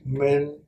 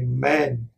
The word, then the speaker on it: Minh: group at all but since my name was men and the Vietnamese looked down on the Cambodians and called the Cambodian man and man means mobile area so my second grade teacher intentionally mispronounced my name and call me man whenever he called man